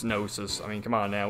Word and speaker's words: gnosis: which in this game they pronounce it gun noses but it's gnosis I mean come on